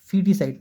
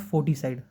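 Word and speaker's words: foeticide: इसका प्रोनाउंसिएशन क्या होता है, फीटिसाइड, नॉट फोर्टिसाइड, ठीक है।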